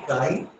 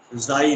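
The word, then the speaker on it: χ: Next is small, कुछ लोग इसको जाई भी प्रोनाउंसिएट करते हैं। ओके काई या जाई, द वैल्यू ऑफ काई इज स्मॉल एंड निगेटिव।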